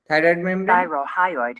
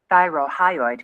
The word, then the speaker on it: thyrohyoid: তাহলে এইভাবে যদি আমরা খেয়াল করি এবং প্রত্যেকটা উচ্চারণ আমরা যদি দেখেন, এটা হচ্ছে থাইরয়েড membrane, Thyrohyoid membrane. Thyrohyoid membrane. এই যে উচ্চারণগুলো এখানে দেখেন থাইরোহাইড, অর্থাৎ এখানে উচ্চারণটা কিভাবে করছে আমরা সেইভাবে উচ্চারণটা করবো।